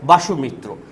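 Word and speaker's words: বসুমিত্র: ভতে বাসুমিত্র, আমি ব লিখেছি কিন্তু ভ উচ্চারণ ইংরেজিতে বেশিরভাগই হয়, তাই বাসুমিত্র।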